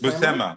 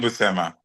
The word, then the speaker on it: Buscema: And how do you guys pronounce the brothers John and Saul Buscema? Buscema.